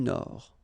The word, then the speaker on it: Nord: Amérique du Nord, final D not pronounced. L'Amérique du Nord.